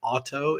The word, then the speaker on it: Orto: The company's name is Auto. It's spelled ORTO.